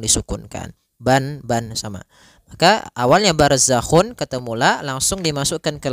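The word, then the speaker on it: بَرْزَخٌ: Barzakhu ra tebal karena ada huruf ra yang sukun didahului dengan fathah.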